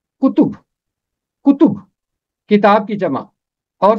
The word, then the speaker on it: کتب: فہرست کتب و صحائف۔ کتب جمع ہے کتاب کی، پہلے حرف پر بھی پیش ہے، تے پہ بھی پیش ہے، اور اسے پڑھیں گے کتب۔ کتب کتاب کی جمع،